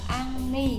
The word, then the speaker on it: 앙리: Cái tên của anh là Henry, chúng ta đọc là Anni các bạn nhé.